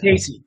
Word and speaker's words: Caissie: you doc I I I really like Casey Cassie Cassie Casey how do you say that Casey Casey okay uh so I'm on board I